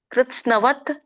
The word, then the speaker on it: ಕೃತ್ಸ್ನ: ಹೇಳಬೇಕು ಇದನ್ನ ಬಿಡಿಸಿದಾಗ ಕೃಷ್ಣಸ್ನ ಕೃತ್ಸ್ನವತ್ ಏಕಸ್ವಿನ್ ಅಂತ ಆಗುತ್ತೆ ಕೃಷ್ಣಸ್ನವತ್ ಏಕಸ್ವಿನ್ ನೋಡಿ ಕ ಕೆ ಒಟ್ಟು ಸುಳಿದೆ ಕೃಷಿರು ಕೃತಸ್ನ ಕೃತ್ಸ್ನ ಬಟ್ ಕೃ ಅಂತ ಹೇಳಬೇಡಿ ಕೃ ಅಂತ ಬರುತ್ತೆ ಕೃತ್ಸ್ನಂ ಕೃ ಅಲ್ಲ ಕೃತಸ್ನ ತಕ್ಕೆ ಸ ಮತ್ತೆ ನ ವತ್ತಿದೆ ಕೃತಸ್ನ ಕೃತಸ್ನ ಕೃತಸ್ನ ಎಷ್ಟು